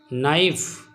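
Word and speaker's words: knife: नाइफ K silent है।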